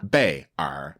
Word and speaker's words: 辈儿: It's actually 2 characters. Yeah. 辈儿, but we say it as 辈, Mm-hmm.